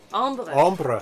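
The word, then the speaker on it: ombré: and get funny looks it's french not spanish ombre ombre what does that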